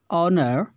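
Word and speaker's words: honour: House, home, ऑनर एंड हैन। तो यहाँ पर हम देख रहे हैं H for house, home, Hahn same sound के, जबकि ऑनर यहाँ पर H साइलेंट होता है, ऑनर जिसका अर्थ क्या होता है, सम्मान।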